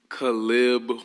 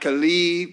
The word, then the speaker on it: Caleb: hear it from you calib all right calib not khib not Caleb not Caleb all right it's Caleb number two in your